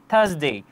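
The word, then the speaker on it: Thursday: তাহলে আর এর পরে আছে এস। যেটি একটি হচ্ছে কনসোনেন্ট লেটার। যার কারণে আমরা আর উচ্চারিত করবো না। আমরা বলব থার্সডে।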